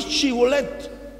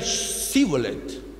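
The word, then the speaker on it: shibboleth: galitas le le preguntaban di shibolet Entonces ellos decían cholet y es decir los efraimitas por algún aspecto de su idioma no podían pronunciar la H hebrea ese entonces shibolet era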